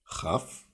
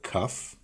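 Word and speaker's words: כ: Chaf. Both work. Chaf or kaf. I usually go with kaf.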